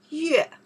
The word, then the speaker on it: 月: Yue. We pronounce the yue, two meaning, moon or month.